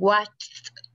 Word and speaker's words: watched: Entonces, los dos sonidos de la CH y la SH no tienen vibración, entonces significa que los dos verbos se van a pronunciar igual al final. ¿Sí? Los dos se van a pronunciar con T, ¿verdad? No con D, sino que los dos se pronuncian con T.